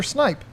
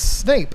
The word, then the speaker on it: Snape: said I used to call Professor Snape Professor snipe oh because if you hear the British accent snipe it sounds like snipe it does kind of so it took me a long time to remember it's Snape snap it's pronounced pleco yeah see type that